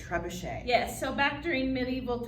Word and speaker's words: trebuchet: Trebuchet. Trebuchet.